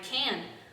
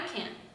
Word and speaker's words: can: is the word can the verb can is very much over pronounced in the affirmative form we are supposed to pronounce it very shortly emphasizing the subject more than the verb instead of saying i can she can they can we say i can